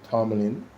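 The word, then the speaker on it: Tomblin: President and CEO of the public service JPS, Kelly Tom, T O M B L I N, I pronounce it Tomlin. The B should be silent.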